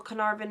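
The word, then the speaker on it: Caernarfon: Y and d and car car inan is written c a e r okay that's a little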